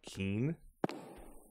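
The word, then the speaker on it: 金: According to Google Translate, gold in Japanese is pronounced like keen.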